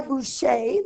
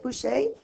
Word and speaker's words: Boucher: look at this one this one's done by whose shade that's how you say it Boucher this is the Marquis de Pompadour you actually